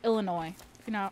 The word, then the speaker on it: Illinois: You just can't pronounce the S because it's like Illinois.